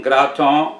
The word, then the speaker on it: gratons: be young cracklins or gratons the gra in graton rhymes with bra the tongue rhymes with gone the